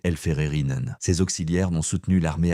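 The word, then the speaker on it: Helferinnen: Parmi eux, plusieurs milliers de femmes auxiliaires de la Vertmart surnommées les elférerines prononcé elfererinen.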